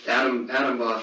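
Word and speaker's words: Atomwaffen: And I remember Adam Buff and like I say Buff because it's like Buff is in arms.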